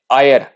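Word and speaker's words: heir: जैसे आयर, अब ये देखो यहाँ पर भी एच क्या है, साइलेंट है, तो ये क्या है, आयर, इसको पढ़ते हैं आयर, आयर पढ़ते हैं इसको, तो अ वाला साउंड प्रोड्यूस कर रहा है, तो अ क्या है,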